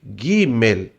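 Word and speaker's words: גימל: Essa letra gimel, você pronuncia ela do jeito que você lê o gui gimel. Então é a letra G, mas você lê como é o G do gato, né? O o G do gostoso.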